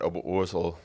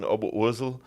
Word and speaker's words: Oberursel: You mentioned Oberursel.